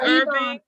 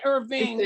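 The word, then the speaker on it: Ervin: Irving. Yeah, not Irving, Irvin. E-R-V-I-N. Irvin, okay.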